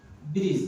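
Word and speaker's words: bridge: দেখুন ব্রিজ কি লিখেছি ব্রিজ ডি টা এখানে সাইলেন্ট পরে দেখুন আমি লিখেছি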